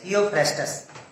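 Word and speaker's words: Theophrastus: इसी तरह से फादर ऑफ बॉटनी थियोफ्रेस्टस, क्या प्रोनाउंस करेंगे? थियोफ्रेस्टस, थियोफ्रेस्टस, ये पहले से आपको मालूम है।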